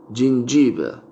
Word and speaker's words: gingiva: En latín sería gingiva, gingiva. Pero en inglés se pronuncia gingiva, gingiva, gingiva, gingiva.